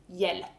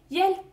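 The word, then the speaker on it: hjälp: the word is help Swedish word for help is yel spelled HJ yel all the same sounds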